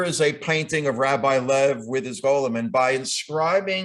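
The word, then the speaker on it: Loew: of course rabbi loves spelled l-o-e-w but pronounced lev and there were so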